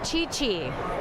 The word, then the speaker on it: Chi Chi: Chi Chi. Got it. Sounds C-H-I, like... C-H-I. Spelled like I think it sounds. C-H-I, C-H-I.